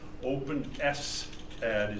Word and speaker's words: OpenSCAD: software, which is the type I'm using, OpenSCAD, OpenSCAD is how that's pronounced, or OpenSolidCAD.